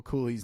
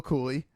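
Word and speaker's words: Cuylle: I think a lot of people understand it does not look phonetically how it's actually said. So Will Cooley, I'm a fan.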